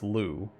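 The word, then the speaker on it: Lugh: his l-u-g is pronounced lou well it's like lou with like a phlegm at the end of it i'm gonna butcher some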